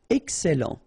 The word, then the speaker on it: excellent: Excellent, remember double L and E before, it will open the E, so excellent, excellent.